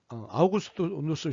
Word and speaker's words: 아우구스티누스: 이 정전론은 4세기 아우구스티누스, 일반적으로는 어거스틴이라고 발음을 하는데요. 원래 발음은 아우구스티누스입니다. 이 아우구스티누스 시대에 발전한 이론인데요.